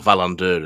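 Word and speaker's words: Wallander: the Henning Manal books Wanderer or Valander as I think you meant to pronounce it.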